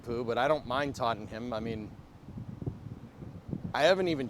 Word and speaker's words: Tottenham: Wouldn't it be like Tottenham or something? I don't know. Totter, teeter totter, whatever. Rough day. Take care. Apricot, it's all right. We good, man. Tottenham. Yeah, that's it. That's how you say it, dude.